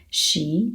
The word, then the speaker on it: 十: So first you can think about s, and then you can think about the sh as in hush. S, make it faster. S, sh, sh, sh. That's the sound of a sh. Now we just need to make it a second tone.